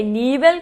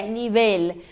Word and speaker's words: nivel: Então a gente pensa que é nível como do português, mas é nível. Por que que a gente sabe que é nível? Porque as paroxítonas terminadas em consoantes que não nem s levam acento. Então se fosse uma paroxítona, teria o acento no I, nível, mas não. A síônica tá na última, então ela é uma oxítona, uma aguda, como a gente dizem em espanhol.